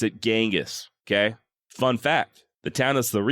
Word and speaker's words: Genghis: And yes, I do still pronounce it Genghis, okay?